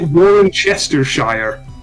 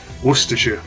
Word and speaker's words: Worcestershire: in there n yeah they pronounced it warren chester shire i've never heard very easy worcestershire worcestershire dead easy sounds so silly though